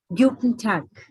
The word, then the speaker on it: Guten Tag: The word hello is pronounced as, or it is considered as Guten Tag.